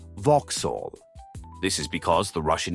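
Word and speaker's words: вокзал: One of the Russian words for railway station is pronounced Vauhall.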